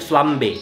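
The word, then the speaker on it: flambé: keluar apinya gitu ya tulisannya flamborge dibacanya flambe jadi dinyalain gitu di-lip On Fire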